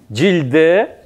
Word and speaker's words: Джильде: Л мягко произносим, да? Джильде.